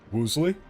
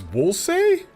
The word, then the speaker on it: Woolsey: Woosley? Is it not pronounced Woosley? Woosley? Is it not Woosley? Woolsey? Oh, it's Woolsey?